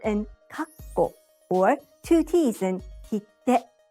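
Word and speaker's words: かっこ: This small tsu sound is translated as a double consonant in English. When it's romanized, we have two consonants, like two K's in kakko or two T's in kitte.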